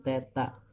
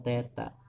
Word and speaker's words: theta: rumus simpangan y = a sin Teta dibacanya theta lengkapi ya air ya